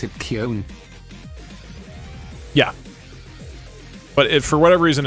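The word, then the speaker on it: Köln: gbt Americans pronounced it cologne in Germany we pronounce it Kon yeah but for whatever reason in English it's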